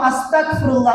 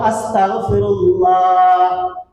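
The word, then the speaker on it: أستغفر الله: পারছি তো ইনশল্লাহ পারব তো ইনশাল্লাহ আমরা কখনো আস্তাগফুল্লাহ উচ্চারণ করবো না। তাহলে এর অর্থ হয়ে যাবে কাফের হতে চাই। আমরা সর্বদায় বলব আস্তাগফিরুল্লাহ বেশি বেশি করা চাই এই রমজানের শেষ।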